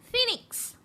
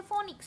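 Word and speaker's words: Phoenix: আরেকটা হচ্ছে দ্য ফিনিক্স। অনেকে এটা বলেন যে ফোনিক্স, ফোনিক্স না, এটার উচ্চারণ হচ্ছে ফিনিক্স।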